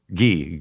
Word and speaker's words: Guy: Gee, Gy W. Gee. Got it. Okay. So, it's spelled guy pronounced G.